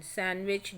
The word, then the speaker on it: sandwich: in knife k silent in sandwich d silent and in talk l is silent y h is silent